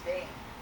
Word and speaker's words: Stein: Stein is pronounced stain here in South Africa.